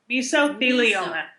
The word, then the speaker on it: mesothelioma: Misotheloma. Miso like miso soup.